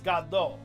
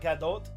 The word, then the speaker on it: Godot: about him so uh his name is gaddo right uh not like not gadot nobody's gonna nobody's saying